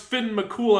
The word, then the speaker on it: Fionn mac Cumhaill: So when I found out it's pronounced Finn McCool, I was like, "Oh, you Oh, you got to be kidding me.